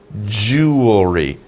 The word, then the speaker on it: jewelry: pallam hindu right so jewelry jewelry it's kind of like jewelry you see if you think about it it sounds like two sounds jewel re but jewel jewel is